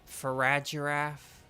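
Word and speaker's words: Farigiraf: so here we go farad giraffe I as I call it with the soft G um oh slithering I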